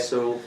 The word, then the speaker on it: Soulle: Soulle, no, it's pronounced Soulle, by the way. Soulle.